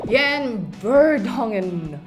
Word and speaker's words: Jan Vertonghen: Jan Vertonghen. Yeah, am I saying that right? Yes, you're saying it right. Jan Vertonghen.